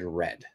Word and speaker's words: read: read past tense and past participle is read and red kind of like the color the color red so read red red and if we look